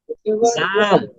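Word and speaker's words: زاي: হচ্ছে জা যা বলুন জা যা একটা আওয়াজ হবে এমন একটা আওয়াজ হবে যা মাশাল্লাহ মাশাল্লাহ তারপরের হরফটা হচ্ছে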